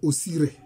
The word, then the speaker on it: Osiris: C'est comme ça que les Grecs appellent ce personnage-là. Mais, je crois que la bonne prononciation, comme le diraient nos ancêtres kamites, c'est Osiré. Osiré.